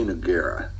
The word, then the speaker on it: Nogueira: How do you say Nogueira?